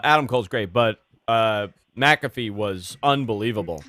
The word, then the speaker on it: McAfee: Cole had with uh maffy last week uh or I'm saying his name wrong aren't I but mcafe that was McAfee okay uh that that